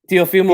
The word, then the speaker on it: Teofimo: Yeah, Teofimo he's a Lopez.